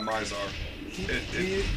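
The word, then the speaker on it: Mizar: So, I'm assuming that Myzar, is that how you pronounce his name? Yeah, Myzar.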